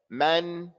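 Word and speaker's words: مَن: Man, you have to open your mouth.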